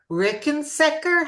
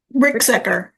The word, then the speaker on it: Ricksecker: Susan, I wanted to mention how much I enjoyed your article in the current PBQ on the Rickensecker. How do you say it? Ricksecker. Ricksecker.